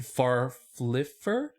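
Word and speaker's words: Farffler: In 1655, a 22-year-old watchmaker named Stephen Farfliffer.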